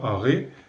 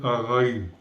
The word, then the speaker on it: Araï: Donc ça veut dire que si on ne dit pas Aré, on va prononcer Araï. On prononce ces noms comme en hébreu, c'est que toutes les lettres se prononcent.